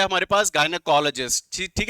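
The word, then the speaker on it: gynecologist: First vocabulary is गायनेकोलॉजिस्ट, जिसको मैंने pronunciation book के अकॉर्डिंग गिनाइकोलॉजिस्ट भी बताया था।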